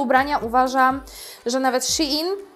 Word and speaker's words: Shein: ubrania, uważam, że nawet Shein, tak to się wymawia, w końcu powiedziałam to prawidłowo, chyba, bywa nawet lepszy.